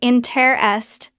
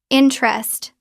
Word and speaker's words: interest: Interest looks like interest three syllables. Interesting looks like interesting four syllables. Natural pronunciation interest. Drop the first e. Interest two syllables.